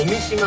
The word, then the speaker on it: 青海島: おみ島っていうんだね。